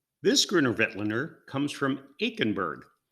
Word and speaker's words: Aichenberg: grinner wetlander comes from aikenberg it's probably pronounced in a very richly germanic way eichenberg but i'm not going